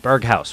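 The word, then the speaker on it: Berghuis: got dumfries uh malin uh berghaus uh who which is how you guys suggested i pronounced it in the last video hopefully i got it right now let me know if i still got it wrong dutch dutch viewers bergaus berghaus right berghaus that's how i'm pronouncing it um depi is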